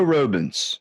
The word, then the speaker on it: Robens: spent my whole life correcting people well robens okay I'm going to be the first person